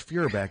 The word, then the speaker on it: Feuerbach: But now the stuff about mispronouncing names, at some point, one of their people needs to say it's Feuerbach.